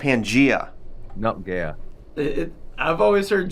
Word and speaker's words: Pangaea: It's pronounced you guys Pangea. Remember that? It's pronounced all Pangea. The landmass was in one part, Christian. I don't know if you know this. Okay, yeah, but it's not called Pangaea. It's called Pangea.